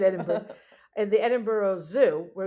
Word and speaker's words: Edinburgh: and then he wound up in the Edinburg edinberg where we've been I should know how to say it I said Edinburgh in the Edinburgh Zoo where he spent the